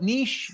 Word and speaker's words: niche: And if you say niche, then we'll call it niche. We'll call it nicho. I'm going to call it niche. It rhymes with riches are in the niches.